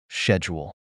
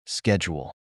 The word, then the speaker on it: schedule: is the word schedule in British English it's often pronounced with a sh sound like schedule in contrast Americans typically pronounce it with a hard k sound like schedule that's a perfect example